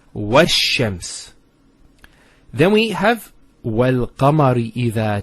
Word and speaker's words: الشَّمْسِ: It's not pronounced, because there's something before it. Similarly, this lam is not pronounced either, because as we said, this is from the sun letters, and there's a shadda there. So it's wash-shams.